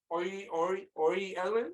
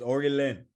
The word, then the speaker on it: Orlin: Say his first name, yo. Ellen. All that sounds wrong. I'll call that nigga Toshamani. It's Orlin.